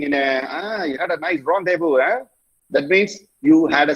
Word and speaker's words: rendezvous: Okay, because it's a purely a French word. Okay, and it's very commonly used. Normally, when they say, okay, let me tell the word how it is pronounced. Rendezvous. Rendezvous. அது உங்க language நீங்க எழுதுங்க. Okay, rendezvous. Vous na you in French.